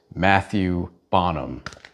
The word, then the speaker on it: Matthieu Bonhomme: For one, I learned how to say the artist's name. I'm just going to go ahead and say it the American way. His name is Matthieu Bonhomme.